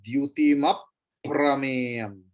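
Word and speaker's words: द्युतिमप्रमेयम्: Prameyam, pra is conjunct consonant. So Dyutimaprameyam. Dyutimaprameyam. Another pa will come.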